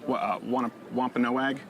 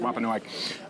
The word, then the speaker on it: Wampanoag: meal of Thanksgiving with the I think it's pronounced Wampanoag. Is that, do you know? I want to make sure I'm getting that right. Wampanoag.